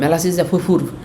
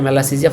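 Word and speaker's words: Malassezia: নাই, সে যে বলবে মেলাসিসিয়া ফুরফুর এরকম করে আর কি, ঠিক আছে। তো মনে রাখবেন এটার উচ্চারণ ওটা না, ফুরফুর না, এটা মেলাসিজিয়া ফারফার।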